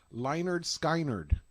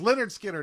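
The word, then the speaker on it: Lynyrd Skynyrd: by what band again leonard skynerd oh i think i'm pronouncing that phonetically i'm sorry it's leonard skinner everybody okay and um so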